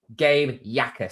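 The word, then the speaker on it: Gabe Jacas: And New England have taken the edge out of Illinois, Gabe Yakas. So that's how you pronounce it.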